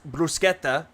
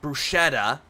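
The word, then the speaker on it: bruschetta: way it's pronounced and it'll pronounce brusketta as BR as brushetta like a dumbass but then again for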